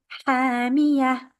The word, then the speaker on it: حَامِيَةٌ: And ta marbuta, we are stopping on that, is the end of the verse. We change the ta marbuta into a ha. حَامِيَةٌ.